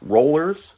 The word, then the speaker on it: Rollors: Tally Tumbler comes from Rollors, which is spelled R-O-L-L-O-R-S.